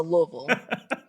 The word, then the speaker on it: Louisville: and I was told you have to say it like you have marbles in your mouth so Louisville so you got it